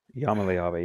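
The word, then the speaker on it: Iamaleava: Yamaleava, yeah, that's what it is. I was really hoping I would pronounce that right.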